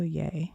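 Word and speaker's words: Yei: Or yai, pronounced yay.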